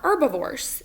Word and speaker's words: herbivores: plants some consumers are herbivores it starts with an h that h is silent so herbivores eat only